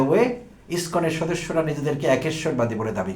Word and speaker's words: ISKCON: আর ইসকন কথাটি একটি এব্রিভিয়েটেড term. এটিকে একোনিম বলা ভালো। যেহেতু ইংলিশ ওয়ার্ডের মত উচ্চারণ করে পড়ি আমরা। ইসকন আই এস সি ও